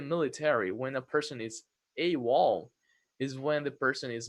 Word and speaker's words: AWOL: Remember that this one is pronounced as a word. AWOL.